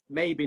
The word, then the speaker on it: Mabey: maybe is it oh so we were really posing it up saying it all French and God knows what it's maybe Noah maybe not wow maybe Noah maybe brilliant fantastic